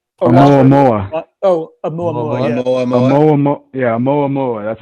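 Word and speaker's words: ʻOumuamua: Yeah, Oumuamua.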